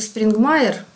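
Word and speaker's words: Springmeier: Значит, я уже вам рассказывала про Фрица Спрингмейера. Ну, американцы говорят, что он произносится Спрингмайер.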